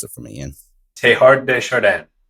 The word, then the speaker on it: Teilhard de Chardin: Teilhard de Chardin. Now, I don't know how to speak French, but that's the customary English speaker pronunciation.